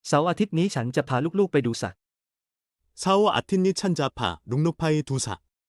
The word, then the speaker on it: เสาร์อาทิตย์: ๆ เสาร์อาทิตย์นี้ฉันจะพาลูกๆไปดูสัตว์ 사오 아틴니 찬자파 룩룩파이 두사. 발음 가이드. เสาร์อาทิตย์ 은 주말. 한국어 사오아틴처럼 들림.